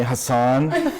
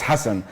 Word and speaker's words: Hussam: people always call me Hassan or Hassan saying the H is very difficult but it's hussam my last name is